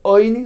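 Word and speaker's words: עני: True, it's spelled ayin nun yud ani, indicating a poor man's bread. But what does he do with the fact that we read it as oini, lechem oini?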